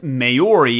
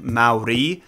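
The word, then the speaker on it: Māori: my corrected pronunciation of Maori is wrong because I guess natives roll their R's when they say it. I believe that sounds like Maori, but I'm from the Midwest, dude.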